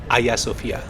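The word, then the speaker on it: Ayasofya: পৃথিবীর ইতিহাস পরিবর্তন হতে সেই আইয়া সোফিয়া। স্থানীয় তুর্কি ভাষায় এটাই সঠিক উচ্চারণ যার অর্থ ঐশ্বরিক জ্ঞান। তবে ইংরেজিতে অনেকেই বলে থাকেন হাজিয়া সোফিয়া।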